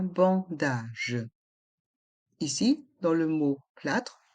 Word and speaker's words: plâtre: fracture une brûlure un plâtre un bandage un plâre un bandage ici dans Le mot plâtre le a a un accent circonflexe on le prononce bien un plat un bandage